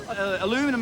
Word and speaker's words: aluminum: Aluminum, as you Americans say, aluminium, as us Australians say, was a little bit slippery, and I was spinning in the rehearsal jumps.